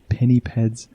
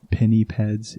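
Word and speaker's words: pinnipeds: are 33 species of Penny Peds alive today now I know some people pronounce this Penny Peds but I like Penny pads it just sounds a bit better to me I'm not sure if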